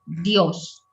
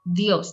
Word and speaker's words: Dios: Aquí esta palabra God en español, Dios, es como el acento va en la O, Dios, es una sola sílaba, es rápido, Dios.